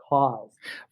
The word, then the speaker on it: Kaws: And I was like, if you say it without knowing how it's spelled Kaws, but if you say it, it says cause.